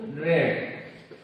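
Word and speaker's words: read: ठीक है, यहाँ पर सब्जेक्ट है यू, तो यू रेड। रीड का थर्ड फॉर्म रेड होता है, लेकिन उसका स्पेलिंग रीड के जैसी है।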